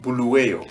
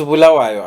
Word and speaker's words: Bulawayo: Somebody said Bulawayo. It's Bulawayo, actually. That's the proper pronunciation.